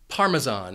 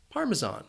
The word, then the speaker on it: Parmesan: One reason this word can be a little confusing is because that S has a Z sound, Parmesan. Parmesan.